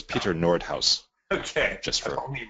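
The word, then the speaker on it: Noordhuis: And actually, that name is a Dutch name, and the H-U-I-S is pronounced house. So it's Peter Nordhaus. Okay. Just for I've only read it, never heard it pronounced. Okay, Nordhaus.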